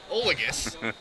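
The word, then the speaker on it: Odges: and that is Kyle olus spelled o d GES but the D is silent the two fouled back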